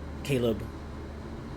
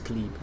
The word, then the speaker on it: Khalib: Caleb dismounts I guess Khib not Caleb. His name is Khalib. I'm saying Caleb like the American name. I think it's Khalib.